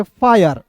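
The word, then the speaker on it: fire: है ना अब देखिए एफ आई आर ई तो पढ़ेंगे फरे नहीं पढ़ेंगे इसे पढ़ेंगे फायर फायर क्या पढ़ेंगे फायर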